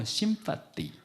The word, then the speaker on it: sympathy: 이 쉼파데이에서 이 공감이라는 영어 단어 sympathy, th 발음입니다.